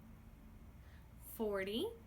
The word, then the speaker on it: forty: Did you hear the difference? Duh. Tuh.